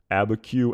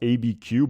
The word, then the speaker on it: Abiquiu: his dialogue in uh in the episode entitled abba q and again people a couple of people have